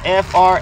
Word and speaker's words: framboise: It's Framboise. Framboise. Framboise blue.